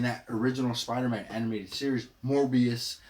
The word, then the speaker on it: Morbius: make it out and I was like like morbus yeah but then I heard one of the you know I heard them actually pronounce it and say it and I was